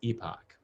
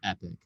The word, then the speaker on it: epoch: quaternary period and the holocene epoch or epic different folks pronounce it different ways um but that holocene